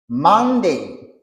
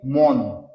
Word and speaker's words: Monday: OK, pour capable bien assimiler chaque prononciation normalement, j'ai que vous devez prononcer. Monday. OK? Monday. Vous avez jamais dit Monday. Il y a des gens qui disent mon.